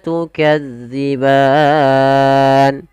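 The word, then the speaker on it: تُكَذِّبَانِ: ulang sedikit lagi fabiayyibikuma tukadziban Kemudian pelafal daw afnanfal dalal hati-hati ya teman-teman jangan sampai dibaca lagi dengan huruf Zai ini keliru dan tergantikan nanti jadi maknanya berubah dia zza dza ujung lidah nempel dengan gigi seri atas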